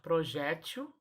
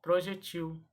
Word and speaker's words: projétil: olhadinha no quadrinho e eu posso falar projétil ou projetil as duas formas são corretas projétil ou projetil que